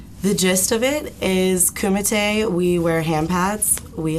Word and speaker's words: kumite: Now, tell me about karate and pronounce it for me again. Kumite.